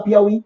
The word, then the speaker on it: Piauí: Baiuca Bocaiuva São paroxítonas cuidado tuiuiu Piauí duas palavras de concurso o acento continua porque será porque não é paroxítona é uma oxítona sílaba tônica é a última então acento continua ou